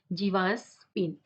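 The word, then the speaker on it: Gervase Phinn: इसके writer जीवास स्पिन आप यहां पर क्या है आर साइलेंट है आप आर को नहीं पढ़ेंगे ओके क्या पढ़ेंगे आपको इस इस राइटर के नाम क्या है जीवस पिन ओके तो न्यू वर्ड्स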